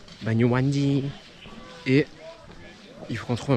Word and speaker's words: Banyuwangi: Banyuwangi. Non. Banyuwangi. On m'a donné. J'ai la vraie signification. Voilà la signification, la vraie prononciation.